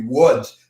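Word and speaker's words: Łódź: Music in Lodz, and I'm not sure the Polish pronunciation might be Woods. It's L-O-D-Z, but I think there's a line through that L, which makes it a W.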